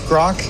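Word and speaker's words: Grok: grock thank you Becky uh it's grock and we spell it with a Q and it's because it comes from a science fiction novel and it means to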